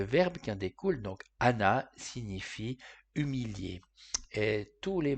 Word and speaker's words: ענה: Dans le top 20 des racines se trouve celle qui commence avec la lettre Ain, qu'on ne prononce pas.